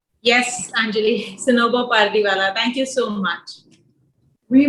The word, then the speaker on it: Sanober Pardiwalla: Here I am with the fearless lady herself, Sanobar Pardiwala. Have I pronounced correctly? Yes, Anjali, Sanobar Pardiwala.